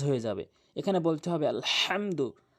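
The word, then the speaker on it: الحمد: এখানে বলতে হবে আলহামদু। হা মিম জবর হাম হাটি হচ্ছে হলকের মাঝখানে এই হা আর আইন এটি হচ্ছে দুই নাম্বার মাখরাজ হলকের মাঝখান থেকে উচ্চারণ করতে হয় এই দুইটি হরফ আলহাম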